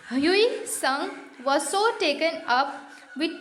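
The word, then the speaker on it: Hui Tsung: In fact, the story goes that the Chinese emperor Hui Sung, T silent होगा बच्चों, Hui Sung was so taken up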